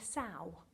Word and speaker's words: sow: really really cute so a female pig is called a sow it rhymes with cow don't get them confused